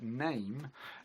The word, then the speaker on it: name: but we call it name the silent E still changes the sound of the vowel but we've dropped it